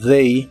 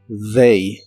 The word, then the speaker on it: they: usas la misma palabra they para referirte a ellos y ellas y la th de esta palabra se pronuncia como una d vibrante they they para decir tú